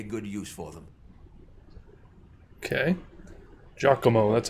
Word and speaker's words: Giacomo: Giacomo, that's how you say it.